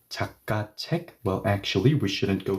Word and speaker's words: 책: Yes, the K will no longer have a snappy 책 K sound. Now it should sound like NG, right?